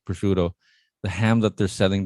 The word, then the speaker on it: prosciutto: a photo of prosciutto is that how you pronounce it yes that's prosciutto so it's it's literally a giant arm or